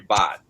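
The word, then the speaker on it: Bhat: friend a musician named Valerie Bott um but her last name is spelled b-h-a-t um and please check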